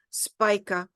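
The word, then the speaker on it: Spica: in front of a fix star called Spa SP IA some people pronounce her spika but Spa is the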